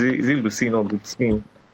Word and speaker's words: Lucene: I hope I'm pronouncing that well. Is it is it Lucin or Lucin?